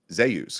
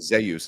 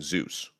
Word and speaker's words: Zeus: Hungul, his name is Zus because it would be Jus. So, everyone calls him Zus instead of saying Zeus, right?